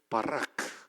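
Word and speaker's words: בָּרַךְ: 이게 B 발음 나는 베트, R 발음 나는 레시, K 발음 나는 카프예요. 이렇게 해서 오른쪽에서 왼쪽으로 나갑니다. 헬라어는 이렇게 왼쪽에서 오른쪽으로 나가죠. 사람이라는 단어인데요. 어쨌든 바라크 한번 해봅시다.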